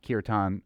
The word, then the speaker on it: kirtan: What's your perspective on folks that are taking on kirtan or even yoga, I guess, as their own? First of all, kirtan. So the A is like a sound. Kirtan.